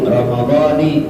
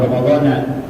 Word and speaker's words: Ramadhani: Fardhi syahri Ramadhani, lebih afdal baca Ramadhani, jangan Ramadhana, karena itu mudhaf lebih dari 1.